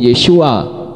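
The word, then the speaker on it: ישועה: syin wo Ain he Namun demikian membacanya tetap sama yaitu yesua dan huruf h-nya tidak terdengar sekarang bagaimana dengan kata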